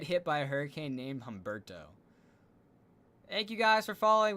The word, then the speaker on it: Humberto: And also, yeah, it would be embarrassing to be hit by a hurricane named Humberto. I'm not going to lie. And apparently it's Humberto. I do apologize for mispronouncing it.